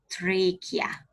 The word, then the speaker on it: trachea: It's called trachea. What is it called? Trachea. The CH pronunciated as K.